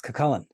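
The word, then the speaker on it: Cú Chulainn: And I was like, hmm, "Do you say that Cuchulainn? That's how it looks." And then I was reading about it, and somebody gave a pronunciation for us. Yeah, it's Cuchulainn.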